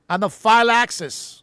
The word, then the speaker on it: anaphylaxis: Anaphylaxis.